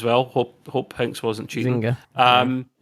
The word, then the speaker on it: Zynga: No, it's Zynga. I don't know how you spell it though.